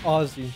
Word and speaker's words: Aussie: Yeah, they don't like it when you call them Aussies, because that's not how you pronounce it. Aussie. It's Aussie. Like Ozzy Osbourne.